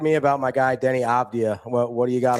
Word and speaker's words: Avdija: So, I've been calling him Avdija Avdija for like 2 years and every time he says he gives me the correct correct pronunciation as if As if you don't know it's Avdija.